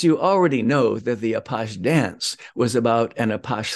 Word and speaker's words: Apache: French author Gustav Amar the French pronounce it apash and the term stuck for that kind of a criminal now for the apash dance we'll skip ahead